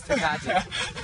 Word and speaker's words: Tecate: how do you pronounce it? Tecate, dude. It's a Mexican thing. Tecate. It's Tecate.